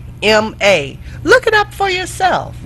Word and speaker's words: Ganoderma: Google it for yourself, and it is spelled exactly like it sounds. Ganoderma.